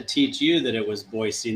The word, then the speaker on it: Boise: And the way that you uh pronounced Boisey tells me that uh tells me that you're, you know, somewhat acquainted with the uh local culture here.